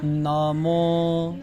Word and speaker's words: নমঃ: আর পাশেরটা হচ্ছে বিসর্গ আছে, এটার কোনো ওকার নাই, তাহলে নামঃ নামঃ নমো নমঃ প্রণত প্রণত ক্লেশনাশায় ক্লেশনাশায় গোবিন্দায় গোবিন্দায় নমো নমঃ।